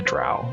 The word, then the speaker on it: drow: So it's essentially a drow, or drow, however you want to pronounce it, but in my world they're typically just called the dark elves.